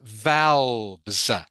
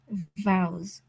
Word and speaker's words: valves: This word, by the way, here, everyone, is pronounced valves. Valves. Valves. Ming Ang, can you say that for me, please? Valves. Vowels. Valves. Good. Pronounced valves.